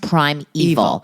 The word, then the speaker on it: Primeval: It's confusing because it's spelled Primeval, but it's pronounced Prime Evil.